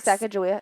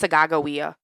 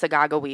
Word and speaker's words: Sacagawea: What, he's not Sacagawea? No, it's Sagagawea. Everyone says it wrong. If you look in history books, it's pronounced Sagagawea.